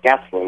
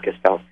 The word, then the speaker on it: Gastelum: Gastelum, that's what it is, not Gastelum.